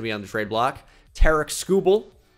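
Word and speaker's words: Tarik Skubal: on the trade block Tarik skubel it is pronounced exactly like that by the way not Tariq school ball Tara scubal could be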